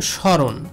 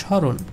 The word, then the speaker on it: স্মরণ: কিন্তু শব্দের শুরুতেই রয়েছে, শব্দের শুরুতে যদি ম ফলা যুক্ত থাকে সেক্ষেত্রে ওই ম ফলাটা উচ্চারিত হবে না, অর্থাৎ এই মটাকে বাদ দিয়ে আমাদের উচ্চারণ করতে হবে স্মরণ।